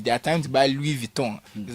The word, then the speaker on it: Louis Vuitton: It's their time to buy Louis Vuitton. Is how you pronounce it.